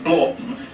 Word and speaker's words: Hornblotton: One of the things that convinced me most was her pronunciation of Hornblotton as Blorton, but I happen to know that that is the form of pronunciation, and I happen to